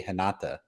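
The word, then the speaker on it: Renata: Like I'll give an example like ranada, an R at the beginning of a name in uh Portuguese is pronounced as an H. She'll be Hata.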